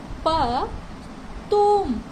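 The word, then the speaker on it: потом: तो इसे हम प्रोनाउंस करेंगे प तुम, पतुम। क्या प्रोनाउंस करेंगे? पतुम। पतुम का मतलब होता है लेटर, बाद में। आपको याद है ना, ओ हमेशा आ की तरह प्रोनाउंस होगा, बट अगर उस पर कोई स्ट्रेस नहीं है तो वो आ प्रोनाउंस होगा और उसका साउंड बहुत ही लेस होगा, राइट।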